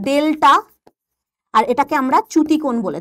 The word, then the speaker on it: ডেলটা: কিন্তু আমরা Greek letter এটার উচ্চারণটা হচ্ছে ডেলটা আর এটাকে আমরা চ্যুতিকোণ